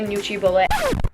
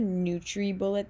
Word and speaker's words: NutriBullet: And this video is actually sponsored by NutriBullet. Okay, wait, hold up. I literally said NutriBullet this whole video and then later realized that it's pronounced NutriBullet. I'm just really foreign, so yeah, that's why.